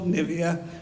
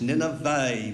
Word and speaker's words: Nineveh: great city of nineveh please get the pronunciation right it's not nivea non-nineveh it's nineveh okay so i don't know